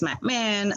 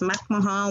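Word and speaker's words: McMahon: pronunciation of my name whether it's mcmah or MC Mahan I insist that it's MC Mahan with syllables that perhaps are not meant to be there because when I think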